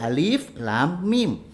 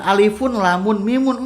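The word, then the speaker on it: الم: jadi ada tulisan ya alif lam kemudian Meme tidak dibaca sekaligus Ya Allah enggak tapi dibacanya 11 alif.lam.mim bukan Alifun lamun mimun Enggak karena tidak ada huruf a top di situ jadi Alif dibacanya suku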